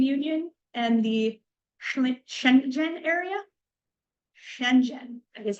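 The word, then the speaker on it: Schengen: is the European Union and the Shenzhen area Shenzhen is how it's pronounced I I had to look it up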